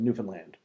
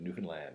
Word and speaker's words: Newfoundland: We had a discussion before the show that it's actually Newfoundland. Very good, Newfoundland. Newfoundland. Yes, this whole long conversation about how to pronounce the names of our provinces.